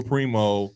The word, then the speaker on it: Primo: like I said Joshua Primo Primo Primo uh what's his name Primo Prime let's go Prime Primo it is primo you said it right it's Primo Primo